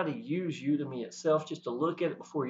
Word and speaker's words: Udimi: Also, if I didn't state this, Udemy is how I pronounce it. It might be said you might Udemy. I've heard people say it all sorts of different ways and stuff like that. But Udemy is what I actually call it.